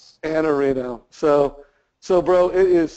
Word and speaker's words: Iannarino: say it right now an arino just drop the eye an Areno so so bro it